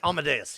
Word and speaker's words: Amadeus: ever say it right is it Emma Deuce Amadeus Amadeus yes brought me Emma Davis yes Falco's rocking